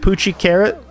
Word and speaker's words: Puchi Carat: it fortunately $2 Tuesday we pronounce it poochie carrot um I don't actually